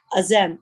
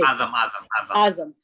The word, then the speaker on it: Azam: Azim, how do you say? Azam.